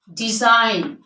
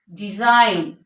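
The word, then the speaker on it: design: पहले होगा before N जी जब भी एन से पहले होगा तो हम क्या करेंगे उसको साइलेंट कर देंगे for example align align साइन साइन डिजाइन डिजाइन फॉरन फॉरन तो इन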